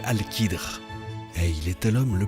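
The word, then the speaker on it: Al-Khidr: Et bien, l'histoire nous apprend que son nom est Alcadre, prononcé Alchidre et il était l'homme le plus savant durant cette période.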